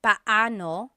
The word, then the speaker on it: paano: just a pronunciation tip it's Technically paoo when they're two vocab or when they're two vowels together you say them separately Pao but when speaking quickly